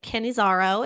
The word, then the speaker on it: Cannizzaro: Cannizzaro.